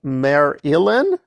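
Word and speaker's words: Merrilin: And Tom Marilyn, yeah, that's the Robert Jordan pronunciation.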